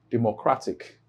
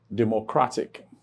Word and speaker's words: democratic: And remember that the rule indicates that if a word ends with a suffix, just like democratic, if it ends with a suffix IC, then the main or primary stress falls on penultimate syllable.